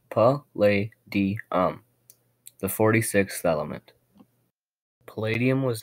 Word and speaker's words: Palladium: Palladium, pronounced pa-lay-di-um, the 46th element.